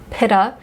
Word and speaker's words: pitta: why i'm eating a veggie pitta as the british say it we would say pita and i still you